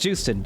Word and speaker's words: Joosten: just in time also I'm pretty sure it actually is pronounced Joosten I really thought it was like you sin or something but I have heard made people pronounce her name and it's always been said juice and I think that guys